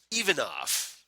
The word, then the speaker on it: Ivan: everybody's favorite feedback, Ivan Ivanov. All right. Yes. Thank you for the phonetic spelling or phonetic pronunciation. Yeah. Apparently, Ivan, as we now know, that's apparently the proper Bulgarian pronunciation.